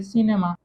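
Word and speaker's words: cinéma: Okay, इसको हम pronounce कैसे करेंगे हम जानते ही हैं, इसको हम प्रोनाउंस करेंगे सिनेमा।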